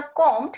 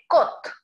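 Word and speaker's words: Comte: আর সিও এম টি ই মনে হয় যেন কম্পট, কিন্তু এটার উচ্চারণটা হবে কোত।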